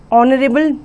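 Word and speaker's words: honorable: कुछ वर्ड जो होते हैं वो साइलेंट H से स्टार्ट होते हैं। Example an honest person, N आर, एन ऑनरेबल मैन, एन ऑनर।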